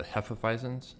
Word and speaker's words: Hefeweizen: You gotta say it like it's German, like Hefeweizen, like, you know.